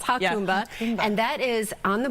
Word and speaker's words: Jacumba: Hakumba Hot Springs, and I had to call them to make sure I say it right because it's Jacumba, but it's Hakumba, and that is on the border of Mexico.